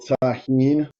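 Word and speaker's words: Tajín: This guy right here, little Tahine. The J is silent for you fucking white Kevins out there.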